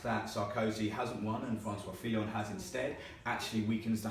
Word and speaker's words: François Fillon: However, François Fillon, nice pronunciation, by the way. Thank you. François Fillon came through and actually won that, effectively ending Sarkozy's career.